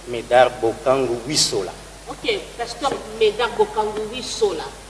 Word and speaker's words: Médard Bokangu Wissola: Pasteur Médard Bokangu, j'ai bien prononcé? Médard Bokangu Wissola.